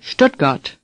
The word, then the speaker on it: Stuttgart: strut got say Stuttgart the difficulty is in the beginning stood the st at the beginning of a word in German is pronounced pushed imagine an sh-t at the beginning of this word and say stood again stood now say stood got again Stuttgart let's review the names